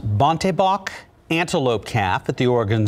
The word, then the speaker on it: bontebok: now see a rare african i think it's pronounced bontebok antelope calf at the oregon zoo tatula was